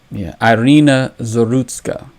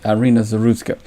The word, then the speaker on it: Iryna Zarutska: and I want to pronounce her name correctly. I didn't. Iryna Zarutska. All right, Iryna Zarutska, and the fallout.